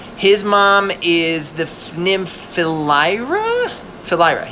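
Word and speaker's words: Philyra: mom is the nymphalyra fellaira yeah because it sounds like philly that's how i remember it like philly's a horse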